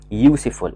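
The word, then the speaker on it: useful: والواي من الحروف الساكنه، واحده كمان برضو كلمه يو سي فول، يو سي فول يعني مفيد، بدأ باليو بس احنا ننطقها واي، بنقول يو يو يو نفس نطق كلمه يو اللي هي انت، يوسفول، وبالتالي هنا هنقول ايوسفول.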